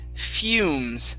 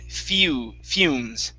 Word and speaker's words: fumes: Next up is this word here, fumes. It's an EU sound. Fumes.